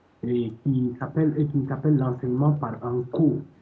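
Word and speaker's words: N'Ko: qui s'appelle l'enseignement par NCO. Le NCO, ça s'écrit NKO.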